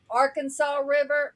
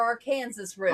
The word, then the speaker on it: Arkansas: So, I mean, it's no different than Arkansas River or Arkansas River. Arkansas, yeah. If you're from Kansas, it's the Arkansas River.